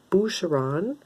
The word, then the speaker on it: Boucheron: decided to pick it up this one is boucheron i believe that's how it's pronounced this is a french perfume and i